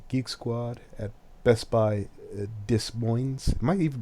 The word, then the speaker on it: Des Moines: 54, he allegedly took his computer to Geek Squad at Best Buy Des Moines. Am I even pronouncing that right? Des Moines.